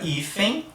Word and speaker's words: hífen: Na sequência aqui a gente tem a letra N terminando aqui a palavra hífen, observa que tem um i também no final. Hífen. Ninguém fala amem, né, terminando com fonema M. Ninguém fala hífen, né, terminando com fonema N. A gente coloca um i ali.